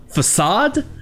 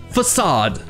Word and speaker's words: façade: Nous avons la deuxième syllabe accentuée qui a le son du A en français, A, façade, alors que la première syllabe a le son non accentué du A en anglais qui est E, façade.